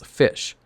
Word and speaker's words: Ghoti: just like the archetype itself GOI can be pronounced as fish it's a creative respelling where the GH is